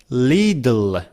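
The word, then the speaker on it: little: लिटिल लिटल लि one well नेटव speaker से लिल instead of saying it's अ लिटल hard they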